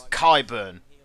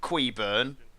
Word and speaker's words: Kyburn: And it's Kyburn by the way. That's how you pronounce it. Not queurn or queef bum for that matter.